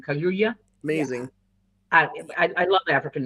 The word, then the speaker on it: Kaluuya: By the way, Daniel Kaluuya, I think that's how you say his name. Kaluuya.